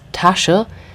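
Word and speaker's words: Tasche: traffic jam the Tasha be careful it's not t it's Tasha and this would be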